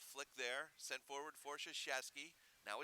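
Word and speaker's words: Chuchaskie: foot on it yes that name sounds a lot like the Duke men's basketball coach it has felt very differently but pronounced similarly shush a ski as CH uch a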